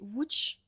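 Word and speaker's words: Łódź: La la base euh c'est alors ça s'appelait WCH en polonais mais ça s'écrit si on le lit en français, c'est Lods.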